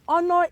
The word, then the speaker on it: honor: many more words um that letter h is also silent in them and of course honor is one of those examples oh no it is